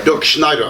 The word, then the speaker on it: Dirkschneider: Is it pronounced Dirkschneider or Dirkschneider? I'm sorry. Dirkschneider.